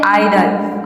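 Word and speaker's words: idle: आई का हो जाएगा आई, टी का हो जाएगा ड, एल का हो जाएगा ल, और वर्ड के लास्ट में ई आ रहा है तो यहाँ पे ई साइलेंट रहेगा।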